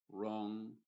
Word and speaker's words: wrong: es completamente muda y la W en palabras que empiezan con w r también es muda y solamente pronunciaría la